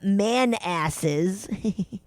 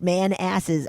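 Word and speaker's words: Manassas: My parents live in the far out suburbs of DC, a few miles past the man asses. That's how it's pronounced. It said pronounced man asses, lol.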